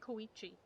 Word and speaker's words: Koichi: Why do I keep saying your name wrong? It's fucking Koichi. And I keep calling her Chuyu.